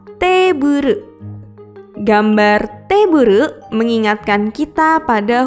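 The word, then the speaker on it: テーブル: Meja dalam bahasa Inggris adalah table. Dalam pelafalan bahasa Jepang adalah teburu.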